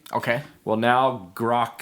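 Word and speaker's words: Grok: attached AI okay and I think it's pronounced Gro it's g r o k okay well now grock 3 is out and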